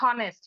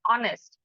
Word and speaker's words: honest: uh for example honest it is not honest it is honest so it is not